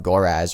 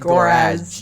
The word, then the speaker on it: Goraz: That's He I said said Goraz, not Goraz.